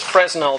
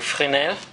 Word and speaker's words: Fresnel: I know it says Fresnel, that's how a German might pronounce it, but I know just enough French that I know it's pronounced closer to Fresnel.